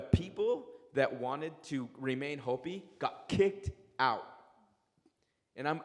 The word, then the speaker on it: Hopi: that myself particularly and sorry you mispronounced it's Hopi and Chima wavy it's okay